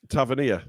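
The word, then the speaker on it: Tavernier: bloody hell who cares it's hard to say his name because I say Tavia but apparently it's Taver tavanir oh well what the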